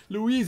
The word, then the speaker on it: Louise: know who Louise is Louise is something that rhymes with G's straight up are you